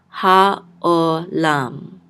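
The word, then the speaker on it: העולם: So ayin is silent, so we're just going to say o.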